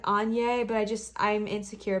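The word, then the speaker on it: Áine: i work with but i call her ayn and i know that's not how you pronounce it it's a i n e and e i read somewhere that was like any but i just i'm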